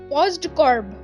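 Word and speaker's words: POSDCORB: So the word you can pronounce it as postcorb.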